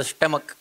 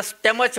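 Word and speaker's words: stomach: एक पॅरेग्राफ वाचत असताना त्याचा स्टमक लिहिलं होत स्टमक माझे शिक्षक मला जे शिकवायचे ते त्याला स्टमच म्हणायचे आता स्टमक च म्हणायचे क च्या ऐवजी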